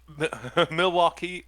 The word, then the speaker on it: Milwaukee: you you know mil Milwaukee yeah Milwaukee is actually pronounced milwauke is that what he